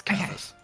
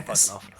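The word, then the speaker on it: Coerthas: I am pronouncing it vaguely correctly, yeah? Yeah, it's Kurthas. Okay, Kurthas.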